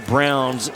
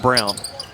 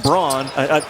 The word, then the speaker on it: Braun: uh that's it's pronounced brown you know every time he goes somewhere with a roll call they're saying brawn it's pronounced brown no doubt oh i